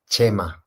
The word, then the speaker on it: Chema: that you know, guys, it's pronounced Chema because I'm from Chema. Spain. Yeah, I'm from Spain, and the CH is pronounced Che, no? Like Che. Che Guevara, no? It's Che like the Guevara, same yep.